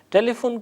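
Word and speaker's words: تلفن: ٹیلی فون خراب ہے، ٹیلی فون کو ہم فارسی میں ٹیلی فون تلفظ کرتے ہیں، یعنی تے لام فے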